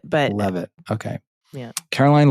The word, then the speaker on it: Leavitt: Am I pronouncing her name correctly? I think it's Leavitt, but... Leavitt, okay. Yeah. Caroline Leavitt, stating the detention cost was, quote, approximately $6 million to El Salvador.